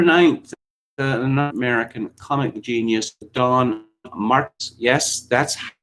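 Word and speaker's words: Don Marquis: And on October 9th, an American comic genius, Don Marks. Yes, that's how it's pronounced.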